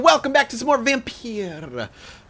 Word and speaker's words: Vampyr: back to some more vim Pieta if that's how you say it people said I was sake saying it wrong by saying vampire we just got out